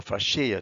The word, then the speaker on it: fascia: a large region called the fascia or fasciae depending on how you've learned to pronounce it so this region called